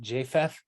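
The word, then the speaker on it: Jephthah: the Book of Judges where I believe it's pronounced JF I could be wrong on this but uh he makes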